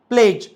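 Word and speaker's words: pledge: नाही जी आला त्याच्यामुळे हा जोडी दिसतो याला सायलेंट ठेवतो सायलेंट ठेवतो म्हणजे त्याचा प्रोन्सशन करत नाही एझाम्पल बज ब्रिज फज जज लज प्लेज वेज ग्रजले महणजे तुमही नोटीस केलं का आपणडी च प्रोन्सशन केलं नाही द रिजन की आफ्टरडी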